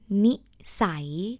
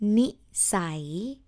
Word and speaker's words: นิสัย: Before we start with this topic, I would like to introduce you one word, the key word, the word nisai, nisai. Ah, and it's spelled like nonu sarai.